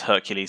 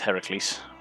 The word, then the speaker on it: Heracles: i discovered that no it's not pronounced hercules it's heracles which you know any